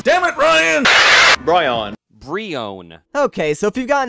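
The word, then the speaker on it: Brionne: Bryon. Wait, what? Bryon. Hey, dude! Silent Lucky Cocky himself pronounced it Brion!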